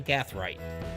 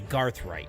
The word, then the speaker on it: Gathright: Row number 8, the 31 of Joey Hillcox, and the 89 of Joshua Gathright. And I said it right because normally I say Garthright, but I didn't. I said Gathright.